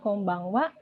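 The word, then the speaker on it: こんばんは: Jadi tolong diperhatikan kalau nulis konbanwa itu bacanya memang konbanwa, cuma ditulisnya konbanha. Oke.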